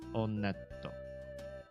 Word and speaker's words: Onett: in the game one just kidding it is pronounced onet I did check the Japanese pronunciation and in Japanese when you go to this first town they pronounce itto onetto so oh that who is this guy [